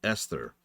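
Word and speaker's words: Esthar: They really keep referencing Esther, and it probably doesn't help that there's the city called Esther in Final Fantasy VIII, which is pronounced exactly the same, although it is spelled differently.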